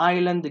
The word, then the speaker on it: island: steam بخار, island جزيرة, الاس يا جماعة silent, island تكتب ولا تنطق. هيجي واحد يقول لي طب يا مستر ما في ايسلند, في كلمة اسمها ايسلند, اه فعلا ما بقولكش لا, ايسلند اي سي اي ال اي ان دي, ودي دولة اللي اسمها دولة ايسلندا اللي هي ايس تلج اي سي اي, لكن دي اي اس ال اي ان دي فتتنطق ايلاند جزيره.